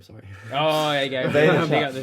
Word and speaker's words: Vaynerchuk: Can't pronounce his surname, sorry. Oh, there you go. Vaynerchuk.